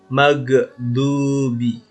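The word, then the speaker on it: المغضوب: salah magdubi magdubi biasanya salahnya dimana salahnya begini maghdubi maghdubi pantulnya dipantul ini dipantulkan makhluk Dubi padahal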